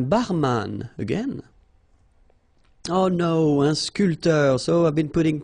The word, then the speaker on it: sculpteur: This P here is not pronounced. So, sculpteur, un sculpteur.